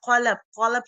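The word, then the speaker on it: قلب: Like qalab spoken from the throat, and kalab spoken from the tongue, k sound. Kalab means dog and qalab means heart.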